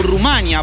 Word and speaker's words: Rumania: de este video que nos referimos al país como Rumanía o como Rumania, porque ambas pronunciaciones están correctas en el castellano, pero la pronunciación en rumano suena muy parecida a la fonética que dicen en España, Rumanía.